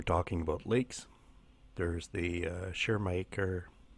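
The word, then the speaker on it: Schirmacher: about lakes there's the sure maker it's a German sounding name so sorry about the pronunciation here oh it's aces sure maker's schi RMA CH ER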